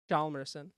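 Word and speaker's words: Hjalmarsson: Jalmerson. Jarmelson. There's an H in there. Yeah, it's not. It's silent. Jalmerson.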